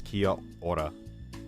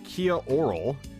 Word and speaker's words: Kia ora: I'm gonna guess I pronounced that wrong because my brain wanted to pronounce that as Japanese. Kia ora. You're the one who say Kia oral.